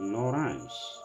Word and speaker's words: l'orange: Same spelling, but in French language you pronounce it l'orange.